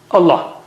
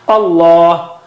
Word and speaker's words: Allah: So Allah, the lam of Allah, the word Allah is thickest. Allah. You don't say Allah. Don't say Allah. Allah, like that.